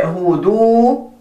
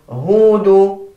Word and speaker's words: هود: Do not say هودو. هودو. Both of them are wrong, but the correct way is هودو.